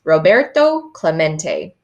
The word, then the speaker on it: Roberto Clemente: Roberto Clemente was his name and this is pronounced Roberto Clemente as if to introduce himself Roberto smacked the